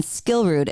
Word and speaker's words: Skillrud: S and then Skillrud is SKILLRUD. You got it, girl. Followed her for a very long time. Not Rudd. How many hosts mispronounce that damn name?